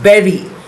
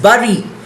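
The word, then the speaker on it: bury: y is pronounced as berry. I used to pronounce it as buri but now I know it is pronounced as berry.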